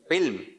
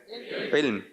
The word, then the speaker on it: علم: جب تلفظ صحیح نہیں ہوتا علم علم یہ چل رہا ہے. صحیح ہے علم. کیا ہے گا؟ علم.